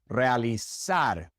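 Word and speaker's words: realizar: In Spain, the Z is pronounced like a th in English. And so, it would be sona d and realis. That's how they pronounce it in Spain. But in Latin America, it's just pronounced like an S.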